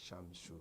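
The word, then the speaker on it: الشمس: uh the solar layer example al-shams the sun is pronounced as shamshu as shamshu no changes takes place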